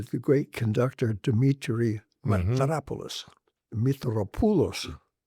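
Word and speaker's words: Mitropoulos: great conductor Dimmitri Metropolis, Metropulos, the correct pronunciation, but he said no one can say that. They can hardly say Metropolis, so I say Metropolis.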